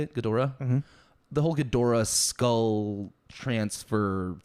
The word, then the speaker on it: Ghidorah: whole gadora right that's how you say it gadora the whole ghidorah skull transfer thing like what